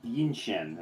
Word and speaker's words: Yinshen: Yinshen is how the setting it's pronounced.